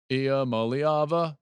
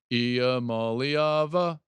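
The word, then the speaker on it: Iamaleava: Ia Maliava. You have to kind of sing it. Ia Maliava.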